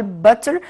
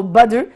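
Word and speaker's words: butter: بينات بادر، بينات اللي هو الفول السوداني، وكلمه بادر دايما الدبل تي بنطقهم دي هي، او ما اعمل ستريس عليها اقول باتر او بادر، بادر اللي هي الزبده، وبادر طبعا اللي هي الزبده العاديه.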